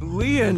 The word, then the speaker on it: Lien: stay by your side on my name Leon is spelled l-i-e-n in French lien means Bond just